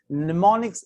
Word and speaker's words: mnemonics: mnemonics we call it mnemonics m is silent mnemonics is a transferring any